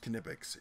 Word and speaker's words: Knipex: You know, and it is pronounced Knipex.